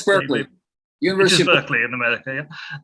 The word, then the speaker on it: Berkeley: I had a conversation with the gentleman at Berkeley University, which Randy might tell me is pronounced Barclay. I'm never quite sure. No, it's Berkeley.